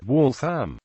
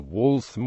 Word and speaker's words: Waltham: of the city is pronounced with the primary stress on the first syllable and a full vowel in the second syllable WL a m wam though the name of the walam watch was pronounced with